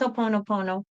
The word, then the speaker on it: Ho'oponopono: I think it's Ho'oponopono.